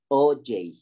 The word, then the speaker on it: Auger: proceso que se llama, I think it's pronounced Auger or Auger recombination. But before we talk about that, let's see. Let's talk about what is needed for that to happen. Oh, here, sorry. The pronunciation is OJ. OJ. I have it here.